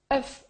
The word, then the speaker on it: œuf: la prononciation de l'œuf fuf au singulier hein quand il est écrit au singulier on prononce le F un fuf mais au